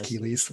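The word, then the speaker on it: Keles: I think they pronounced it Kellis. That's Keely's. Yeah, for sure. I mean, Kellis, I don't blame them in the slightest.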